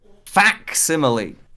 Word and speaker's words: facsimile: It's one of those words where it's like, oh no, it is actually said how it's spelled. That's very strange. No, oh, yeah, yeah. No, it's grand. But I was like, I'm just doing the thing, you know, just ignoring the C.